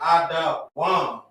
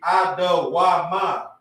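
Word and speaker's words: אדום: I can easily look at this and say Ada Wam. It wouldn't be Ada Wama. That's how it would sound reading Assyrian.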